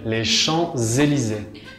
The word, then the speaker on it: Champs-Élysées: Si, no se pronuncia la P. Les Champs-Élysées.